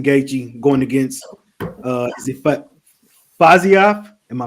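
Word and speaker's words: Fiziev: So co-main event, Reid, you got Justin Gaethje going against is it Faziev? Am I pronouncing that right? Yeah. Faziev.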